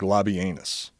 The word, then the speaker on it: Labienus: Well, if I was pronouncing it properly, like a if I was pronouncing it properly, it would sound even more ridiculous. Let's hear it. Because it's more like Labienus.